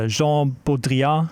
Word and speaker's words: Jean Baudrillard: or the hyperreal um is Jean Bodria I think is the correct pronunciation it's a French philosopher